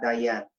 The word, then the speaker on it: Diana: sé si se dice diane o diane cuéntame cómo se dice tu nombre por favor y ahí vamos a escuchar hola que tal bueno se escribe diana pero se pronuncia daia bueno me gusta que